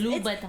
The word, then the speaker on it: Louboutin: No, it's Louboutin. it's Louboutin and Louis Vuitton. Okay, and I'm not gonna Yves fucking Saint pronounce everything in the Laurent.